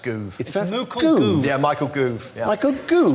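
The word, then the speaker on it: Gove: CLE Clash recently it's goo as in move movement it's pronounced goo yeah Michael goo Michael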